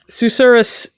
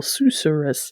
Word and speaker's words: susurrus: Susurrus makes good use of this S sound with the repetition of the first syllable, Susurrus.